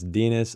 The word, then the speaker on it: Denis: yeah here we go whose name everybody pronounced a rhyme with penis so it's Denis I guess that's how